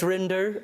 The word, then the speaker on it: Rinder: Judge Rinder, I like you rhyme with Tinder, that sort of thing.